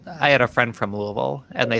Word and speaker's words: Louisville: Also, as I had a friend from Louisville, and they said the correct way to pronounce it is to stuff your whole fist in your mouth and just Louisville.